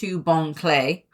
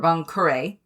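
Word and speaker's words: Bon Clay: Um and in regards to the Baroque works name so Mr. Bong Clay or Bonare depending on how you wish to pronounce it.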